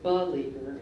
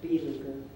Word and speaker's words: beleaguer: Any alternate pronunciations? Yeah, I can go beleaguer instead of beleaguer.